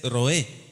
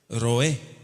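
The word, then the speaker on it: רועה: En hebreo se dice roé. ¿Cómo se dice? Roé. Con resh, roé.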